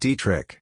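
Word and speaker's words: Detrick: found a former National Guard Airbase called detri pronounced dri Field named after an army surgeon who had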